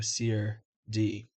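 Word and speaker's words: serde: Typically the correct answer is c or d because it's short for serialization d serialization. So se d.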